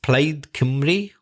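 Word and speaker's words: Plaid Cymru: got a Welsh name I think it's pronounced played kimly or something like that I think that means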